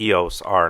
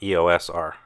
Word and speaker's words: EOS R: in the comment section it is the proper way to pronounce the camera's name the eos are not AOS are after removing the camera